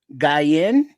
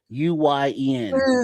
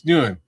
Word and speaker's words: Nguyen: But I Tina Guyen. I never know how to pronounce that. Nguyen. Hold on, man. It's Nguyen.